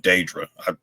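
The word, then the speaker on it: Dedra: back on Coruscant, Cyril and Deidre, or he pronounced it Daedra. I'm just gonna say Deidre.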